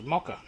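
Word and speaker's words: مكر: from the root um this one here is pronounced as mocka all right primary meaning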